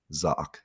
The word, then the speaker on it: Zach: I'm for, Zock, spelled like Zach.